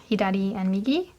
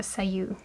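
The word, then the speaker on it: 左右: Hi and migi and instead of being pronounced hi and migi when they're used together as word word they mean left and right and it's actually pronounced uh say and I didn't know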